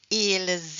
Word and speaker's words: ils: Because we don't pronounce the S at the end, parce qu'on ne prononce pas le S à la fin.